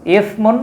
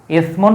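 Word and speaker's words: إثم: একটা হচ্ছে সা আর একটা হচ্ছে সিন।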